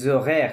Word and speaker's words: horaires: লুহুক, look, আদিকে les horaires, এইচ তো silent. লেজ। horaires, horaires, les horaires, হ্যাঁ? আচ্ছা, হুম। কি হবে তাহলে? আদিকে আদিকে ল- l'heure, l'heure আদিকে লগ, et les লগ, horaires, লোজোগে।